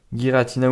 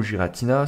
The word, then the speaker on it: Giratina: comme ça alors là on a guiratina ou Giratina c'est vous qui voyez vous prononcez comme vous le souhaitez flammoutant sorc silence zacion zéro